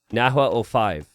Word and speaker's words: Nahuel: Nahuel05. Okay. That H has no sound in Spanish.